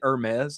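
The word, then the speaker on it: Hermès: Is that Is it Hermes?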